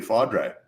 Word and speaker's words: Faudree: ask akanika you you you did pronounce it correctly fadre yeah oh fadre awesome